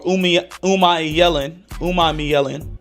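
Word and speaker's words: Umanmielen: won day 3, Princey Umalau or Umai Yellen. That's how you say his name.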